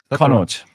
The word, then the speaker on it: Connacht: And then the away South African teams, the Lions, they played, I don't know how to say this, Connacht. Connacht.